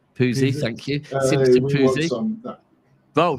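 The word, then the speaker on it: Pusey: Listen, if you are, as I call him, SP, but Simpson, one of you two say his second name because I'll pronounce it wrong. Poozy, thank you.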